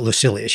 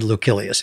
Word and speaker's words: Lucilius: i i pronounce it lucilius you said lucilius is is there a correct pronunciation for that am i mispronouncing it uh well the c in uh latin is supposedly hard like a k so it would be